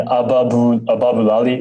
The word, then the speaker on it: Ababulali: Actually, the two songs that I really liked on the album that stood out to me was Feelings and Ababulali. Is that how you pronounce it?